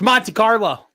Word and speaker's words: Monte Carlo: I like how you just skipped the T there completely on Monte Carlo. Monte Carlo. Yeah, who cares? Interesting to hear Matt tell someone how to pronounce the T. It's Monte Carlo.